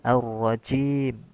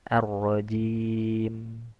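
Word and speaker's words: الرجيم: Kemudian yang kedua, cara wakaf pada kata arrajim yaitu ee ada empat ya tadi disampaikan a sukun pada huruf mim dengan huruf jim dibaca dua harakat. Makanya masuk ke dalam mad arid lisukun arrojim. Arrajim dua harakat. Kemudian arrajim itu empat harakat. Arrajim itu enam harakat.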